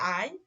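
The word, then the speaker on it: Ei: ওকে, তাহলে এখন আরেকবার আমি বলে নিচ্ছি যে যখন এই যে এ এ এবং ই একসাথে থাকবে, এরপরে যখন ই থাকবে তখন তার উচ্চারণ হবে আই।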